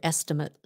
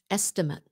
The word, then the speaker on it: estimate: you about this word estimate if you're talking about a noun it's pronounced estimate estimate can I get an estimate on that window estimate that's a noun if